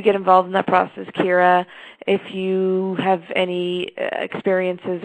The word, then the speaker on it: Ciara: so I think I have it right now Kira yes so um sorry about that my friends are throwing me a shower and I would love to hear if you get involved in that process Kira if you have any experiences or suggestions for